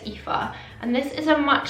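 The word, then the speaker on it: Aoife: And then another one that's really stood out to me is the IFA, or A-O-I-F-E, I think it's pronounced IFA.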